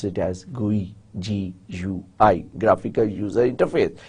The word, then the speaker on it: GUI: You may pronounce it as GUI, G-U-I, graphical user interface.